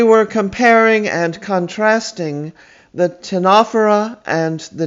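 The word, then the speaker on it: Ctenophora: joining us we were comparing and contrasting the tinaphora and the nedaria i'll write them on the chalkboard for you tinofera spelled c t e n o p h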